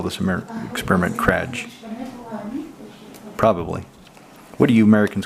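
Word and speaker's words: Experiment Kraj: So Czech pronunciation this would be experiment cry. I haven't heard any English speaker say this name. So I guess in the states it would call this experiment crime probably.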